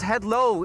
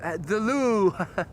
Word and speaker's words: Het Loo: We have a royal palace called Head Low in Dutch, and it's exactly written the way that Lieve has written it. Which, of course, if you would use an English pronunciation, would say the Loo.